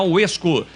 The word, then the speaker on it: WESCO: Você precisa seguir a Rádio Bandeirantes no @Rádio Bandeirantes Campinas e também seguir a UESCO no @UESCO_Brasil no Instagram. Lembrando que o UESCO se escreve com WESCO.